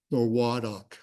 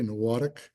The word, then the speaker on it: Nowatic: And it's really Nowatic, okay, Nowatic.